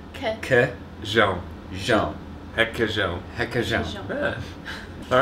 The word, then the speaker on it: requeijão: Requeijão. Again? Yeah, for real? That's an R at the start. I know. It's because the R in Portuguese is weird, but it's he, que, que, jean. Jean. Requeijão.